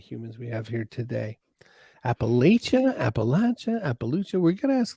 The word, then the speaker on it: Appalachia: for having me uh the correct way to pronounce it is appalachia if you're west virginia or south of that i don't know what those yankees say but down here we say appalachia and the way you